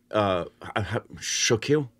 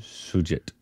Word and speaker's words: Shoojit: Shokil? Is that how you pronounce his first name? Shoojit.